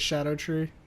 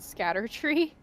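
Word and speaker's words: Scadutree: such that you're supposed to pronounce that shadow tree or whatever the It's not scatter tree. I don't think so. I think it's supposed to be shadow.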